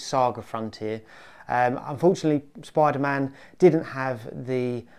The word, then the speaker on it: SaGa Frontier: And I realised watching this back that I pronounced it wrong. I believe it's Saga Frontier.